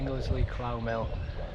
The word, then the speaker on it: Ingersley Clough Mill: There's literally a plaque here about it, so it's Ingersley Clough Mill. That's how you say it, Ingersley Clough Mill.